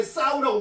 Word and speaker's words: sow: 그 다음에 이제 암돼지는 요거 소우라고 발음 않고 돼지 경우에 싸우라고 발음합니다.